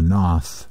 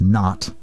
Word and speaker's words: Nath: and indeed was apparently somewhat influenced by the Knauth tradition perhaps more correctly pronounced not tradition although it's spelled na th an example